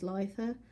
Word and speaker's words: Litha: I keep forever pronouncing it wrong because for donkey's years I kept thinking it was Litha, but it's not, it's Litha.